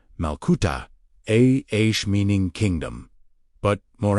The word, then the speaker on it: malkuta: The key word in today's teaching is Malkuta, pronounced Malkuta, Aish, meaning kingdom.